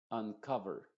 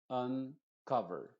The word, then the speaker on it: uncover: la u es decir la u y la o se están pronunciando con la misma vocal uncover uncover unwind unload unveil und